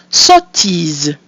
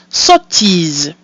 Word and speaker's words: sottise: So we have O, followed by a pronounced consonant sound, which makes it an open O, We have the letter I, which is pronounced E, and we have our mute E at the end of the word, which is silent, giving us sottise.